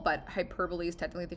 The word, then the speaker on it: hyperbole: go Mike you might hear it as a hyperbole but hyperbole is technically the correct way to pronounce it so why hyperbole is an exaggeration